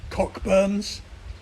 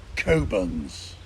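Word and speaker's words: Cockburn's: to pass the port do not refer to it as cockburns it's kobans but enough already what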